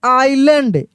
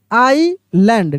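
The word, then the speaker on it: island: अब यहाँ पर देखिए इसको पढ़ते हैं आइलैंड, यहाँ एस जो है ना, यह एस साइलेंट लेटर है, क्या है, एस साइलेंट है, एस का उच्चारण नहीं होता है, हम लोग लिखते हैं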